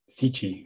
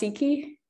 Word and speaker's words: Siki: Sichi, am I saying that right? No, it's English, it's pronounced Siki.